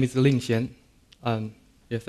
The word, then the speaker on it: Lingxian: a Chinese name and I heard many times that people would call me Linkin because you know the pronunciation of the letter X is different between Chinese and English so for people's convenience